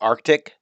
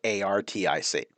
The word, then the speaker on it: Arctic: We usually pronounce it Arctic. Like I usually say Arctic, and I don't pronounce that middle C. There's probably reasons linguistically why most people don't pronounce that middle C, but there is a C in the word. And so it is Arctic, Arctic, not Artic.